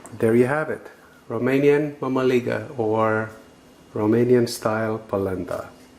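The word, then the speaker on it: mămăligă: Well, so how do you eat the Romanian polenta or mamaliga? Mamaliga. That's how it's pronounced.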